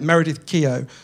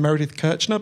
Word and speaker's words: Meredith Keough: people who led it Meredith Keough I've got to make sure I say her name Rex I keep saying Meredith Kercher by mistake it was that person